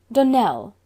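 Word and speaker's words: Donnell: would set it right Donell Accent on the last syllable and Sinclair on no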